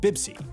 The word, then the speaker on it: Pepsi: That's why Pepsi, in most languages using Arabic script, is said bibsi.